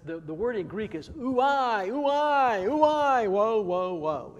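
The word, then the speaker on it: οὐαί: It's really interesting because the word in Greek is ooi, ooi, ooi, woe, woe, woe. It's kind of like ooey, ooey, ooey.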